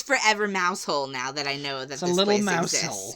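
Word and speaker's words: Mousehole: to go see mouse hole and it is mouse hole okay I do not even care uh the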